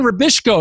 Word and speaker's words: Rubisco: let me welcome Rubisco is that am i pronouncing your name right you said that very well i'm impressed yes